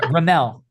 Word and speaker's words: Remmel: Yeah, Remmel. Just say Mel, like Remmel.